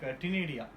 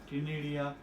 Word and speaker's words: ctenidia: In that mantle cavity they have several respiratory organs like ctenidia. C is silent, ctenidia or gills, like that.